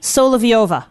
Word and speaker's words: Solovieva: Soliviova. Correct. You got it. Oh, I pronounce I was in my head so many